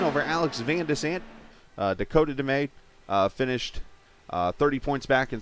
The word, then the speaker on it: DeMay: There's Dakota DeMay, or DeMay, I should say. Found out I was saying his name wrong the whole time.